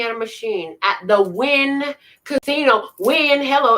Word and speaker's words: Wynn: I was sitting at a machine at the Wynn Casino. Wynn, hello, it's spelled W-Y-N-N, but who cares how it's spelled?